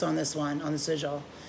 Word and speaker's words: sigil: Sigils.